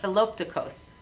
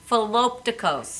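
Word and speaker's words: Philoptochos: Philopticos. Philopticos.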